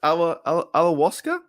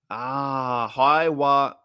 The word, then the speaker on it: Ayahuasca: Ayahuasca?